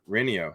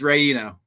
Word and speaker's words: Renio: It's close. It's Ray. Tell me what I mess up. Renio or Renio? It's Rayino. Reno.